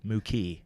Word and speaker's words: Moke: If you want to check out the little baby gorilla, his name is Mookie, Moke, but it's pronounced Mookie.